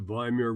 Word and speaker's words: Weimar: We also talked about, excuse me, there it is, the Weimar Republic. Remember, the W is pronounced like a V, a very politically weak democratic experiment, which just basically fell on its face.